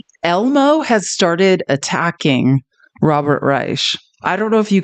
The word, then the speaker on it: Reich: See, I'm still saying his name wrong. Reich. His name is Reich, and even though I've learned that now, I still continue to say it like it's spelled.